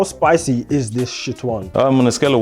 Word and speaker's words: Nxtion: Cally, I can see this Nxtion.